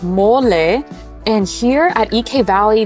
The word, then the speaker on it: mole: heard of M before you might read it as mole cuz that's how it would be pronounced in English um but no it's not a mole it's mole and here at EK